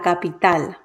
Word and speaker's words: capital: is a palabra aguda the word ends in a consonant that it is not n or s so the stress falls on the last syllable la capital la capital de puerto